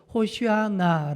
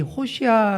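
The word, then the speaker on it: הושענא: 이어서 안나가 무슨 말이냐면 히브리어로 호시 않아 라고 발음을 하는데 이 호샤 라는 말은 구원하소서 라는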